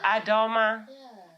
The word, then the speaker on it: Adoma: That's not how you say it. It's Adoma. Adoma.